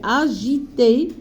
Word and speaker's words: agité: passait son temps agité alors regardez bien g avec I c'est qu'elle S c'est pas gu c'est agité agité sans sablier de jeu